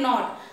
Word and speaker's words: knot: We will write K, but the sound will not come. Alphabet K is silent alphabet here.